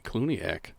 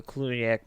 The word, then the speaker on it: Cluniac: Ooh, the Clooney. Yeah, George Clooney. Clooney-ac. That's where he came from. Wow. He's a descendant of the Cluniac monks.